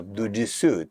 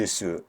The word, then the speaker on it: Du Ti Su: So this mantra, Dujisu, 3 syllables, has the power to burn, to purify those three.